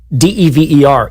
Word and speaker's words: Dever: So, a single consonant following a vowel is a hard vowel. D-E-V-E-R is pronounced Dever. D-E-V-V-E-R would be Dever.